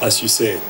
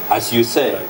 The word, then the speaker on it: ASYOUSED: see you said what is that actually it's pronounced as you say as you say as you say what is it all about